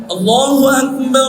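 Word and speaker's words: الله أكبر: আল্লাহ হা উচ্চারণ করে দেখেন তো হা উচ্চারণ করতে হবে না করতে হবে না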